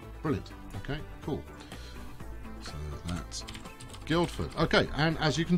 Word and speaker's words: Guildford: Yes, Guildford. It's pronounced. The D is. It's not silent so much as just everybody skips it.